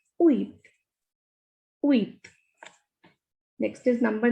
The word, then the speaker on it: huit: And H is a muted consonant. Whenever a word begins with H, we don't pronounce it. And T here is not a muted consonant. Otherwise, T is a muted consonant. So we will pronounce it as uit.